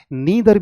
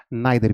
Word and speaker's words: neither: और ये चीज़ आप ये समझ ले बच्चे कि इसकी प्रोनाउंसिएशन दो होती है। आप इसे नीदर भी कह सकते हैं और नाइदर भी कह सकते हैं।